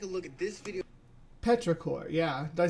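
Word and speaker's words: petrichor: you can take a look at this video Petra cor yeah did I say it right the first time I see you put it in there uh Mark Smith uh the word is Petra cor thanks Doctor Who yeah that's I think that's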